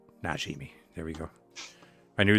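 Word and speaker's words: Najimy: come on come on is that how you pronounce it kujimi that's it that's it not not kashimi najimi there we go I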